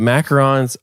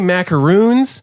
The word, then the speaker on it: macaron: cream later number one nobody can pronounce the name in America we say macaroons oh yeah say it